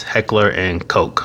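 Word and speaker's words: Heckler & Koch: And by the way, if you want to know how to say it, HK, it's Heckler and Coke, like Coca-Cola.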